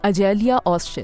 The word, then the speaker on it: Açelya Özcan: और मेरे साथ हैं इस वक्त अजेलिया ओकचन। इज़ इट the right pronunciation of your name? यही ऐसे ही बोलते हैं इस नाम को? जी बिल्कुल, अजेलिया ओकचन।